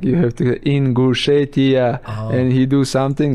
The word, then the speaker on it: Ingushetia: I told him like you have to Ingushetia, and he do something right and say Ingushetia.